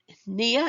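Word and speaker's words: pnea: used really to measure Nia in this case the the P the p in this case is silent means breathing and I'm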